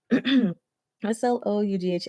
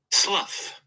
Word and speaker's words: slough: SLOUGH. I want to make sure I'm saying it correctly. Slough.